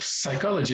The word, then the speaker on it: psychology: Does psychology begin with an S? No, it doesn't. It begins with a P, doesn't it? And it's not pronounced psychology, it's pronounced psychology.